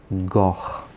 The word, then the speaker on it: goch: So this adjective is going to be goch, a bont goch, the red bridge.